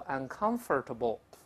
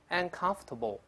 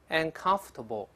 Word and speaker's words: uncomfortable: 的时候，中间这个 or 不能发音，不要读 uncomfortable，不是这么读的。我们读一下 uncomfortable，再来一遍 uncomfortable， conf，发 f。